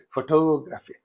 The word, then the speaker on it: photography: on the first syllable if it is photography you say photo Photo. You don't say photography. You say photography. Photography. The second syllable.